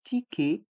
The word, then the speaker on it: ticket: Un ticket de métro. Un ticket de métro. Les lettres E et T se prononcent E.